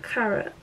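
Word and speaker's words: Karat: It is called 24 Carat, but carrot is spelled with a K and it's just like carrot, not carrots.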